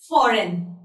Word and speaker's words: foreign: Foreign. So while I was pronouncing these words, you must have noticed that the letter G is not being pronounced by me.